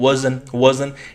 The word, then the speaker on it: wasn't: आप T silent भी कर सकते हैं, wasn't. टी साइलेंट होगी अमेरिकन इंग्लिश में.